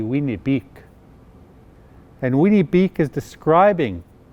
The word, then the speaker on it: Winnipeg: the city of winnipeg the proper pronunciation of winnipeg is actually wienerbeek and winnie beak is